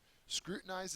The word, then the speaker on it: scrutinize: revert antonym is progress scrutinize is next it's a verb first syllable is accented it means to examine